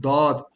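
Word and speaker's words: ضاد: It's the letter of the pronunciation of Da, because most people cannot get this out correctly, right? Where you're supposed to place your tongue for Da, Dad.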